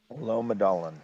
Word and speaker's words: Lommedalen: Wait, how do you spell that? Lomedalen. Lommedalen.